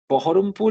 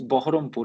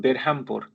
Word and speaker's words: Baharampur: So when you are speaking in a particular language, try to use the pronunciation that goes with that language. Baharampur is Baharampur, not Berhampur.